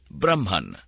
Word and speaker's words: Brahma: the impersonal absolute Spirit Brahman Brahma with a long a at the end is the masculine of